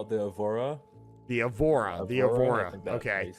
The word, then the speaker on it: Aurora: I'm familiar with that ship, but I can't pronounce it. I call it the Avora. The Avora. Okay. Aurora.